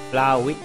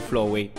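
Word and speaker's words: Flaaffy: andiamo flowe flowe flowe flowy e non flowe perch ho ho scoperto avete scritto che si scriveva così un po' di tempo fa mi sembra giusto mantenere la pronuncia attacco rapido io ti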